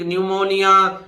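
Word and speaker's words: pneumonia: अगर एन आ जाए पी के बाद एस आ जाए दोनों ही कंडीशन में पी का उच्चारण नहीं होता पी साइलेंट रहती है उदाहरण आपके सामने है न्यूमेटिक न्यूमोनिया शाम ईश्वर के लिए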